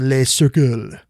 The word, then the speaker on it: Les Cercles: secret group known as Les Cercles, giving it a French pronunciation because I think it's the French word for circle, Les Cercles, which is actually more secretive than the Bilderberg group.